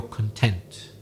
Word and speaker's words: content: feel happy satisfied your content ah but what if i change the stress what if i say content and i stress the first syllable instead of the second the meaning then is